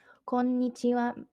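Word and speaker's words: こんにちは: and good afternoon is konichiwa some let me see that slowly Cohen mee chi-wah konichiwa this is good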